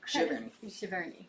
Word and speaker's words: Giverny: Giverny. Yes. I have it with a hard G for some reason. I know it's not right, but it somewhere a Frenchman screamed.